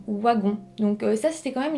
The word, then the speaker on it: Wagon: son nom de famille on pourrait dire wagon mais en fait elle a bel et bien dit waggon donc ça c'était quand